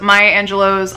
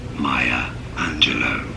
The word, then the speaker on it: Angelou: the first book that I picked up was Maya Angelou's I know why the Cage Bird Sings and